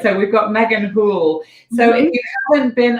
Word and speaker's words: Houle: your last name cool it's like pool with a name yeah he's right right so we've got megan poole so if you haven't